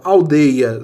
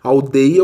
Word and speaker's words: aldeia: Então, aldeia se aplica? Não, porque não é ditongo aberto. Aldeia, o ditongo é fechado.